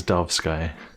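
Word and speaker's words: Dovesky: The sign says Dove Sky. Literally spelled like the bird bird and the the firmament.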